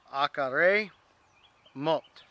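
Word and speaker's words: אחרי מות: So try to pronounce the Hebrew here. It is Acharei mot.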